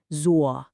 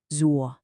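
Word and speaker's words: 左: It falls and then it rises. Listen really carefully. Z. One more time. A really common mistake is to either cut it short or to not complete that rising part at the end. Let's practice it together. Z. Can you feel that dip? That is absolutely crucial.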